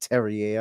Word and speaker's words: Terrier: well called Martin Terrier I'm going to call him Terrier just because I think it's funny but obviously he's going to be pronounced Terry a I presume and considering he's French but he's somebody that